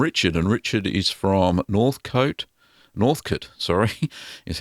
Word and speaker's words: Northcote: This is from Richard, and Richard is from Northcote, is how you pronounce it, in Victoria, here in Australia, in my home state.